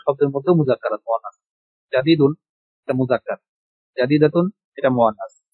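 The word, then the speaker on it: جديد: আমরা বাচ্চাদেরকে এভাবে পড়াই, জাদিদুন, জাদিদাতুন, নতুন, কদিমুন, কদিমাতুন, পুরানো বা পুরাতন।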